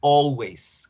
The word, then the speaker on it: always: Entonces tenemos 100% del tiempo la palabra always. ¿Qué significa always? Siempre. Siempre. Siempre. Y ojo con la pronunciación, es con O.